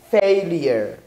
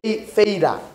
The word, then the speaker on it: failure: pronounce this word pronunciation the pronunciation of this word is failure failure don't say fader failures no failure failure